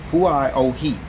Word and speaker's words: Pualani: And this name you see there underneath the aircraft, it is pronounced Pualani. That's how it's pronounced, okay?